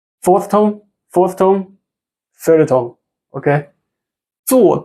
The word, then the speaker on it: 坐: 坐地铁。 don't need to roll your tongue, okay?